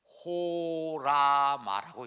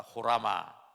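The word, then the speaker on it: ὅραμα: 이걸 읽을 때 호라마라고 읽습니다. 한번 따라합시다. 호라마.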